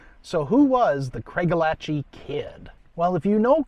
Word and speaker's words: Craigellachie: Now, I've heard it pronounced Craigellachie and Craigellachie or some other variations, but I'm going with Craigellachie just because that's what I grew up saying and it just flows the most naturally for me.